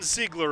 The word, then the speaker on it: Ziegler: And leading off, it's Dawson Ziegler of the Orioles. Ziegler, a 12-year-old, and his name is pronounced as written, which I think was very helpful guidance there.